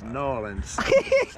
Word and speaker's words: New Orleans: But the bit of help I need is how to pronounce New Orleans. It's New Orleans.